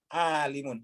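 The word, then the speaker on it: عالم: Alimun, ya, alimun. Jadi bacanya alimun.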